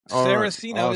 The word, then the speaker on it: Saraceno: Sarosino is is I believe the pronunciation, which is funny because I'm actually my